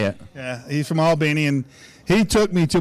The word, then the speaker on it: Albany: of Georgia so he's from ala beanie bitty which is how you say it he's from Albany and he took me